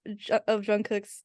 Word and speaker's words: Jungkook: No, but it's Jungkook. That's it. It's whatever he was saying was just incorrect. Because he was like saying kook, right?